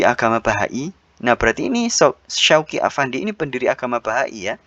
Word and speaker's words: Shoghi Effendi: Shoghi Effendi ini mungkin bacanya adalah Syauqi Afandi. Ya, Syauqi Afandi.